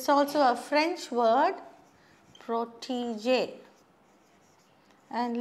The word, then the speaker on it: protégé: And look at this grave accent. Accent grave they say in French. You have a small little dash on top of the E, and that gives a different pronunciation. Protégé we say.